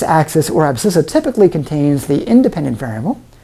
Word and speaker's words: abscissa: axis is called the abscissa and that does have a C in it although it isn't pronounced it's a silent sea it's the abscissa on the x-axis the